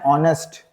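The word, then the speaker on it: honest: आर बोलते हैं इसको ठीक है okay an ऑनेस्ट एन ऑनेस्ट नेस्ट नहीं ऑनेस्ट ओके देखिए एन एम ए एम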